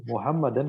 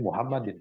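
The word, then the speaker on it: محمدًا: Jangan kita baca seperti malah ada seperti Muhammadin, salah.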